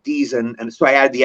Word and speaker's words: Deezen: I was born Dezen, Edward Harry Deezen, but people would see it and they always go Dezen. It's but it's pronounced Deezen, but it looks like Dezen.